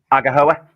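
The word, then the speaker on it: Aghehowa: Please pronounce it. Agahoa.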